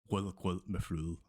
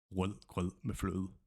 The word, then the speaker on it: Rødgrød med fløde: The word or the sentence is Rødgrød med fløde. Rødgrød med fløde.